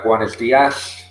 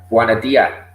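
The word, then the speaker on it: Buenos días: also, on the words, they also don't pronounce their S's. You know, like Buenos Dias, or, you know, Andalusia call it Buena Dia. So they don't pronounce the S's.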